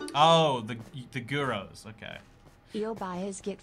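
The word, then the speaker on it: gyros: maybe it's just me guyros is pronounced like heroes oh the the guros okay he'll buy his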